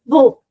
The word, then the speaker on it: beau: So this beau, you can easily remember using this pronunciation, B-O, which is beau.